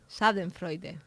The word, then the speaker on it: Schadenfreude: O sea, tengo que hacer acting de buena pronunciación. Sí, por favor. Schadenfreude.